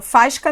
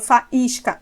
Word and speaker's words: faísca: Eu não falo fasca nem faisca, falo faísca.